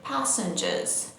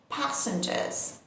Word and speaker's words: passengers: And you know, in British English, we again don't pronounce the R sound and we say passengers, passengers.